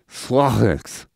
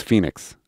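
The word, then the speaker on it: 7HO3NIX: She is Slothix. I think that's the proper pronunciation. No, you put the pronunciation. It's Phoenix right next to it.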